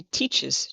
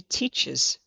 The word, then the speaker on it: teaches: She teaches children. She teaches children. So, we have the two syllables on that one. She teaches children.